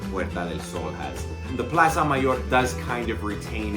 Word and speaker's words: Plaza Mayor: Let me say it like someone from Spain. La Plaza Mayor.